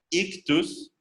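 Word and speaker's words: ἰχθύς: pero este pececito que algunos traducen como ixo ya que nada tienen que ver en realidad su pronunciación sería ictus es una idiota una y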